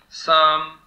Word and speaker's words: psalm: Pterodactyl, psalm, and pneumatic. London, Davis. They begin with P, which is not some. They all begin with an unpronounced P, Edinburgh, correct.